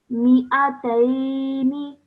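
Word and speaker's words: مِا۟ئَتَيْنِ: So you can see that the Alif is now missing from the pronunciation. So you say this as mi'ataini.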